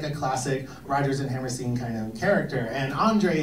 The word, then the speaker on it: Hammerstein: Hammerstein. Stein. He's pronounced the second vowel. Right. Stein. Exactly.